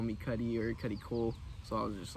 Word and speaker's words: Cudi Cole: I think you got the 3 syllables, Cuddy Cole.